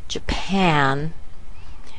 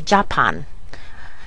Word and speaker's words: Japan: the word very big now the second syllable that's where the big part comes we want to make that big the a here is the a like C or apple and so pan is our final syllable and we have Jan